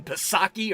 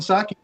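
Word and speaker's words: Psaki: saki or what jim posaki or jinsaki or rocky yeah it is i think the p is silent on that one but yeah anyway jen saki she's a breath of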